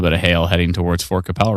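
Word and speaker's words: Fort Qu'Appelle: hear it I'm like obviously forcapel. No, that's not how you pronounce it. There's got to be a better way to pronounce. I swear there's Let's see. No, that's not right. No, that's not Is that It is Fort Capel.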